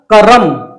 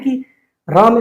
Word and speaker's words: कर्म: आ की आवाज है, लेकिन अब आप देखिएगा इसका हम एक प्रकार उच्चारण कर सकते हैं कि र में से आ की आवाज न आए। तो वो कैसे होगा? कर्म करम कर्म करम कर्म।